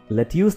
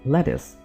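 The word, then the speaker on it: lettuce: जी, ये लेट्यूस नहीं है, यानी सलाद के पत्ते, इसको हम लेट्यूस नहीं बोलते, हम इसको बोलेंगे लेटिस। क्या बोलेंगे?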